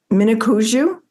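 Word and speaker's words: Minneconjou: Mnicoujou?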